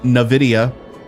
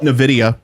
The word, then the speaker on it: Nvidia: had their keynote or as the CEO called it Nvidia which I think is wrong I'm going to call him out I think the CEO is saying the company name wrong and I'm probably correct about this because I would know better than the CEO um I always call it Invidia but they call it Nvidia so I'm going to